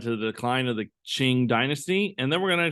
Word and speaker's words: Qing: It's not the king, it's the Qing dynasty.